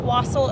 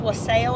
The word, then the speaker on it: wassail: Somebody asked me if you can say it wassail, or I guess the song says wassail or something like that, but it's actually both. There's a correct pronunciation.